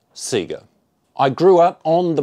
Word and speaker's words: Sega: Sega kid and yes in Australia we pronounce it Sega I grew up on